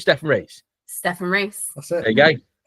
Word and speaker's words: Rhys: Orlando content, go and check out Steph and Rhys. What's your YouTube channel called? Is it called Steph and Rhys?